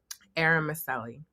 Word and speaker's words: Eromosele: you should have let me how do you pronounce your last name eram Meli oh I was totally off yeah I mean